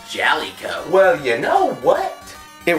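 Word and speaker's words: Jaleco: the aesthetics it was released in 1989 by jaliko actually it's pronounced jolly co well you know what it was a side-scrolling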